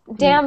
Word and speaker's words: damn: But then what's the other one that sounds just like it? Dam. That is a course. Yes. So if you say, like, you know, oh, damn him, D-A-M-N, that is like a curse word.